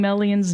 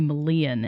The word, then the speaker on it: Melian: right i've been mispronouncing melian's name for years i keep wanting to say malian and that's incorrect it's melian sounds very much like a i don't know like a modern girl's name like melody where's mel yeah yeah